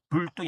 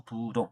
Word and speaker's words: 부동: 부부이 부이 우리는 분리 불리 불리 또 불자가 또 불라만 받아되는 건 뒤에 디귿자나 지극자 고수적에는 어 부동 움직이지 마라. 그때는 불동이 아니고 부동.